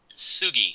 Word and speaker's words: Tsugi: from their tsugi line is that how you say it will Sugi Sugi line the tea is silent there's Sugi line uh